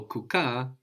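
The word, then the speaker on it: kukaa: or to sit and we have two a's on the end there. No k u k a which in swuahili makes it like two syllables which is why we have the accent on ka.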